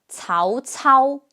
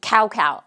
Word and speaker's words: Cao Cao: Battle of iling next Tao Tao Tao Tao I think in some of the games some people call him cow cow right it's understandable considering how often C is pronounced as K in English fortunately that's never the